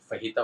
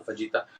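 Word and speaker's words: fajita: Sorry J silent है, और फहीता में J साइलेंट है, तो फहीता होता है, उसमें फजीता।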